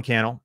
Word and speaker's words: Cannell: My name is Cannell, and it does rhyme with YouTube channel.